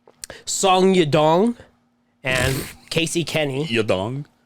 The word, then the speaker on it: Yadong: Your dong. That is how you say it.